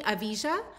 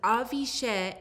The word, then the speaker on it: Avijah: address you so You I can call pronounce me Avijah, which is the American pronunciation, but I called my mom today, asked her where does she find my name, and she said it was Avishe in the Avesta book, and it means special.